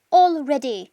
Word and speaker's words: already: Already. Y ahí está la forma en que se pronuncia already, con una O al principio, all, luego ready. Already.